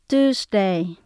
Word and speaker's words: Tuesday: Sunday, Monday, Tuesday, Wednesday, Thursday, Friday, Saturday.